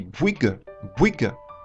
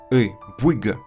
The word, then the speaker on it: Bouygues: Donc si on combine OU et Y, et on prononce à la fois OU, I, on dit Bouygues, très vite. Et on a ce son E, Bouygues.